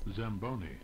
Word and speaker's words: Zamboni: to get Google to say it out loud pronunciation anation okay and let's hear it Zamboni Zamboni I'm St stupid all right so we're